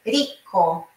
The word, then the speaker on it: rico: Nunca a pronúncia do R no começo de palavras em italiano será ha, re, ri, ho, ru. Não. Então, aqui é rico, rico.